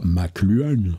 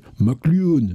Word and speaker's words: McLuhan: J'ai appris récemment, on ne dit pas McLuhan, on dit McLuhan.